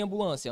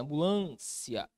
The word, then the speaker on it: ambulância: Aqui está a minha sílaba tônica. Olha aqui em polícia, polícia. Olha aqui em ambulância, ambulância.